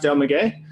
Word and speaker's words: Del Maguey: But let's go ahead and start with Del Maguey Vida Mezcal. Now that's pronounced Del Maguey.